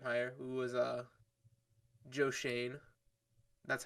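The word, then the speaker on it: Schoen: for context says s-c-h-o-e-n i thought it was like shown or something showin it's shane so joe shane right now our our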